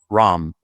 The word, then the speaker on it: Reims: the win over, and this is not Rennes or Reims, it's Ram. I think that's how you pronounce it. I don't know. I'm gonna go back and check that right now. But all I heard that, I'm like, I've never heard it pronounced that way, but that's how the French pronounce it.